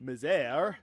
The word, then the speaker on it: Misère: I named myself Brick Miser, later Brick Misère. That's how you actually pronounce it.